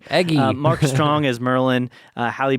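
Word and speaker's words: Eggsy: kind of know egy sorry yeah not eggy egy Mark Strong as Merlin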